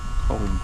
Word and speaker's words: comb: Comb. Comb. Comb. C O M. Right. MB. Oh yes, there's a B at the end. Although the B is not pronounced.